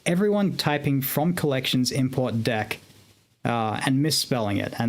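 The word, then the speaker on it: deque: you know that so dec d q u e is double ended queue very useful data type for certain purposes but people would type it deck like deckers and dc because it's phonetically what it sounds like exactly and so as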